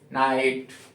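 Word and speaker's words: knight: किसको करोगे के को ऐसे ही कुछ और स्पेलिंग्स है नाइट नॉट के एन ओटी नॉट मीस नट नेट के एन आई टी यहां पे के क्या है साइलेंट है तो ध्यान रखेंगे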